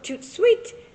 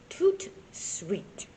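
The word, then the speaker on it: tout de suite: Come over, toot sweet. That's French for right away. You say it like this, toot sweet.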